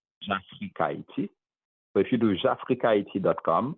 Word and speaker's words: Jafrikayiti: It's really Afric and IT written in Haitian Creole or phonetically, and then you just add J in front of it. So Jafrikayiti, Jafrikayiti.